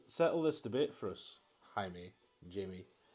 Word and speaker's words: Jaime: haven't corrected me I feel like a fool Jaime is I mean that is how it's spelt so you would think that so there